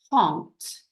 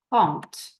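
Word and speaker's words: trente: I want you to think really carefully about the pronunciation of this one is font font hopefully you've all remembered that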